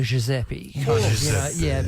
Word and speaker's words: Giuseppe: It's a bit more of a G than a J. Sound like a Giuseppe. Giuseppe. A bit more of a soft G there.